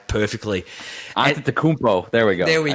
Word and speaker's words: Antetokounmpo: No, my son pronounces all the names perfectly. Antetokounmpo.